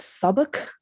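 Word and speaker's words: Southwark: it's spelled South w r k and it's pronounced Sauk s oh okay there's there's no be in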